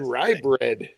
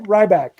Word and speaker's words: Ryback: I said ry bread. He said it wrong. I got it right the second time though. Ryback.